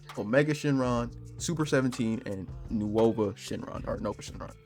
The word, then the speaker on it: Nuova Shenron: You got Oob and Majub, Omega Shenron, Super 17, and Nuova Shenron, or Nova Shenron. I like to say Nuova because that's how it's spelled, but Nova Shenron.